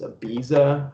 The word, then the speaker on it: Ibiza: even know they're not right right way to pronounce it it's ibiza i've heard people like use a list yeah